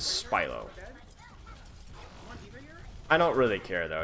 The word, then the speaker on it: Spilo: PLEASE host have mercy how do you say your name spy lo it is spy lo I don't really care